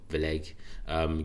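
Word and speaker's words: Vlieghe: So BOE's, I think you pronounce it Vleg, gives strongest backing yet for negative rates.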